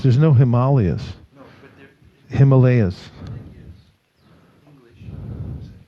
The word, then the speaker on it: Himalaya: No, but Himalayas.